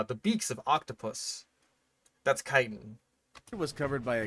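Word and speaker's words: chitin: Kitan. Okay. A lot of people have a a pretty hard time pronouncing kiten when they just read it apparently. Um, but it is kitan though. Like c h i t i n. That's kitan.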